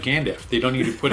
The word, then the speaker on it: Gandalf: It's just Gandalf. That's Gandalf. Let us know what how you pronounce it.